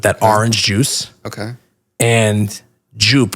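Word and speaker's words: Joop!: orange juice okay and jup which is I guess pronounced yope and I'll never forget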